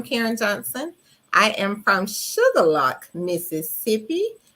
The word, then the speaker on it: Shuqualak: I am from Sugar Lock, Mississippi. Most people would think that's spelled sugar and lock, but no, it's not. It's spelled SHUQUALAK.